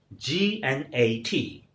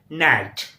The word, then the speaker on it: gnat: Next word is G-N-A-T. It's a gnat. Right pronunciation, pronounce with me and say gnat.